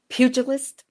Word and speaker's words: pugilist: And from that, we're working towards a pugilist. Is that how you say it? Who enters the ring? Pugilist. Pugilist. Okay, we pronounce the G.